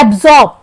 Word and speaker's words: absorb: first देखते हैं अब्जॉर्ब अब्जॉर्ब में आ साइलेंट है जिसे हम र बोलते हैं यहां ब्रिटिश इंग्लिश प्रोनंसिएशन में आर ना बोलकर उसे आ बोला जाता है और र का बहुत कम उच्चारण होता है इस आ इसलिए यहां अब्जॉर्ब बोलते हैं वही ऐड यहां ऐड